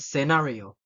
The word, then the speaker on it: scenario: scissors fascinate scenar and scenario see I'm not pronouncing the the say word because if I pronounce it I it will be like mustle sissor Fascinate and scenario so it will sound